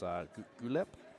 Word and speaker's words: Guelph: I don't know how to pronounce this, but it's Guelph, Ontario, Guelph.